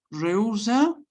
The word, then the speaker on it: rehúsa: Rehúsa, acordémonos que la H no se pronuncia.